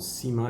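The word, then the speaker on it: Cyma: I don't know why it's called Sima, it's C-Y-M-A.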